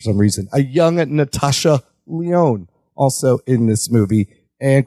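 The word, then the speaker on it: Levesque: forgot to mention Paul Lees leesu Paul oh it's Le oh all that is silent great Paul Le SLE H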